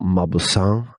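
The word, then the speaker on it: Mauboussin: think twice by Michael mausan believe that this how you pronounce his name m Au u b o u SS i n and you can also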